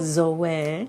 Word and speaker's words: Zoe: have a four-month-old zoe pronounced the greek way too zoe we like greek guys